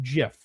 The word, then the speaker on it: GIF: So, the G comes from graphics and that's why people think that it should be a hard G, but the creator of it says it's pronounced GIF.